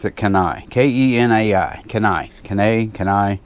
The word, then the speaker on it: Kenai: I pronounce it Kenai. K-E-N-A-I.